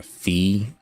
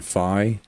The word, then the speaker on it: Fi: not going to lie I'll stick with uh fee always felt better on the tongue than fi yeah English is weird